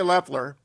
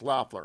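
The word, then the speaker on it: Loeffler: the 51st senator kelly leffler loffler i think it's loffler am i saying it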